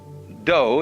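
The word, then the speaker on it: dō: the science of Judo do is the way the Japanese pronounce Dao je means gentle Judo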